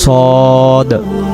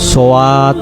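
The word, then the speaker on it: ص: যদি আমরা বলি সোয়াদ তাহলে উচ্চারণটা ভুল হবে। সদ জবর স, সদ দাল জবর সদ। যদি এটাকে আমরা সোয়াদ পড়ি তখন বানানে দেখেন যে ওয়াও একটা যুক্ত হয়ে যাচ্ছে, এখানে উচ্চারণ হবে সদ।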